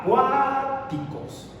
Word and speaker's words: acuáticos: Ya me cantemos la palabra acuáticos. Acuáticos. Nos damos cuenta que la sílaba tónica recae en la segunda sílaba, cuáticos. Entonces la sílaba tónica es la segunda.